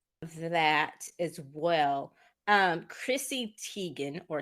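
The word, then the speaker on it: Chrissy Teigen: but um so that as well um Chrissy Tegan or Tigan as she pronounce is how it's um actually pronounced she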